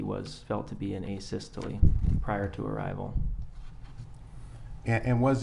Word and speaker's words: asystole: and have you explained to the jury uh a systole i think is called um am i pronouncing that right by the way asystole yeah